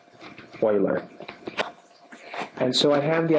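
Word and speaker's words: Euler: some definitions e u l e r is pronounced Oiler and so I have the idea of an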